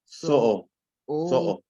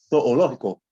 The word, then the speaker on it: zoológico: Zoológico. So all you got is you got two O's together. So you're gonna actually pronounce the two O's.